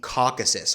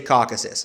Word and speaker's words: Caucasus: ethnically interesting part of the world called the Caucasus or Caucasus, depending on your pronunciation. In Russian, it's also called the Kavkaz. So I know people roast me for my pronunciation of this region. I say Caucasus, so we're all going to have to deal